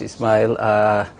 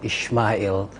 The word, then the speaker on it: Ismail: thank you very much Ismail you corrected me this morning I was saying Ishmael I think the Muslims that's how we pronounce it so the Arabic is Ismail and then the house